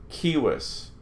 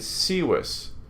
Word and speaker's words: civis: So you would want to pronounce this circum and civis. But we're not going to do that. All our C's are always hard. Circum, civis.